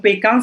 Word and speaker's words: Pékin: Donc, Pékin, ça c'est... Les Français, ils ne prononcent pas Beijing.